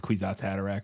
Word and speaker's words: Kwisatz Haderach: That's how they say it in the movie, is Kwisatz Haderach, but yeah.